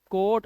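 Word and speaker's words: coat: तो ये हो गया बोट, ओ ए आया, ओ ए आया तो ओ ए को ओ पढ़ना है, कोट। और मैंने आपको अभी क्या बताया था थोड़ी देर पहले, मैंने बोला था जब दो वाउल एक साथ आए, ओ भी वाउल ए भी वाउल, तो ये है ओ।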